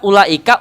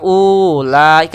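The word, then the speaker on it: أولئك: siapapun yang mengajarkan Alquran ketika ada kalimat Ula Ika u-nya dibacanya enggak dibaca gitu seolah nggak ada padahal ada tulisannya kalau ada yang baca ulah Ika salah pasti disalahin pasti akan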